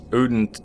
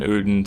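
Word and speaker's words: Oedon: we just got this uden toome key and I know the pronunciation uden sounds like terrible but you're going to see why I'm saying it like that in a minute beyond the tomb uden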